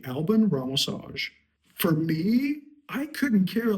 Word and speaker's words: Alban Ramosaj: Listen, Alban Ramosaj, Alban Ramosaj. I would say my name is Alban Ramosaj, but I also understand that people are going to butcher it, so I'm fine with Alban Ramosaj.